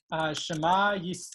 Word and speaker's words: Shema: Shema, so this is the way that sort of the standard Sephardi Israeli pronunciation that is common among American, non-Hasidic American Jews.